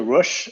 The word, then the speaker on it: Rush: i mispronouncing your name everyone calls it rush uh so it's the simplest way uh thank you russia